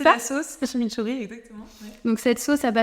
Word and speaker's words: chimichurri: souvent accompagné de, tu vas peut-être mieux le prononcer que moi, de chimichurri. Oui, c'est ça ? La sauce, chimichurri, exactement.